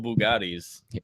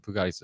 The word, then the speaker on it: Bugatti: May's got like multiple Bugattis yeah so if I had multiple Bugattis i' would be eaten cheeseburgers Bugatti yeah Bugattis I think that's how you pronounced it it is he was correct yeah but uh no